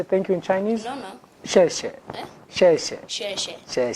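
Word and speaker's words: 谢谢: Xie xie.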